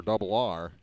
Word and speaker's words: Dobbelare: Back-to-back strikeouts, the first looking for Double R. That's not a nickname. It's Dobbelare. Double R is how he pronounces it.